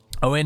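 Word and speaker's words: Óin: retinue he has owen owen is the son of growing and glowing's brother see that's why i'm pretty sure it's pronounced that way because otherwise it would be oint son of groin which would just be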